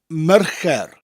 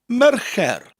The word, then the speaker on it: Mercher: So you're saying the word mayor, like the mayor of a town, followed by a rolling R. Mer, and then it sounds like the word care, but with a CH sound to start, che, and a rolling R at the end.